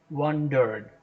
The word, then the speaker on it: wandered: In wondered, the first syllable should get the stress, right? Please keep in mind that it's wondered, and the last E, this E here is silent.